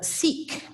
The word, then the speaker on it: Sikh: we are learning about sikhi that is the excuse me in the united states we tend to say seek because the word sikh is a homonym for the english word meaning ill so but the